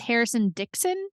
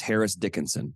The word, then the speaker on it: Harris Dickinson: har his name Harrison I think it's Harrison Dixon Harris Dickinson I always say it wrong yeah it's Harris Dickinson Harris Dickinson okay not Harrison um I'm obsessed with